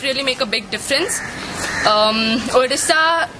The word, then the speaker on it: Odisha: According to Odia pronunciation, Odisha, and so O means O is the correct.